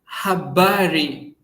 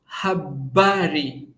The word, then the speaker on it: habari: Then we have habari. Habari we stress bar.